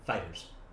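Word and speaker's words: FighterZ: According to the developer, the pronunciation is Dragon Ball Fighters. Oh. The Z is attached to the end of Fighters, but it's not pronounced.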